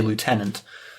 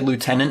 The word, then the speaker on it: lieutenant: though I am British, I do tend to say lieutenant, because that's how it's spelled. But after people got mad at me for it, every time I have to say lieutenant in a video, I